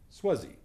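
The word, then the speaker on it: SWUSZ: the sax grip but if you say s-w-u-s-z really quickly it's pronounced swazi it's a bit easier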